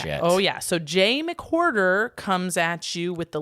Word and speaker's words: McWhorter: And his last name is spelled like hoarder, like a whore, which I find very great. John McWhorter.